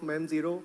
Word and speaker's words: Mem0: I'm the co-founder and CEO of Mem Zero not Memo. Uh that's a common uh misconception that we see people pronouncing us and we are the